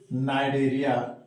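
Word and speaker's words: Cnidaria: इस फाइलम का दूसरा नाम है नाइडेरिया। यहां भी लिखते हैं हम कनाइडेरिया, सी साइलेंट है, प्रोनाउंसिएशन करेंगे नाइडेरिया।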